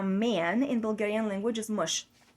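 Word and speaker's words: мъж: word for a man in Bulgarian language is mush mush that's it mush you can write it in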